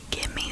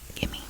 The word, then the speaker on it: gimme: Give me some sugar. Gimme. And it's spelled G-I-M-M-E. Gimme. Not give me.